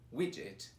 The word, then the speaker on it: widget: e etê isso mesmo essas palavras elas normalmente os alunos confundem não sabe com pronunciar principalmente porque aparece um gt no final que pra todo mundo é o ghetti mas é aparece um de e aí ele muda totalmente a pronúncia vez mas não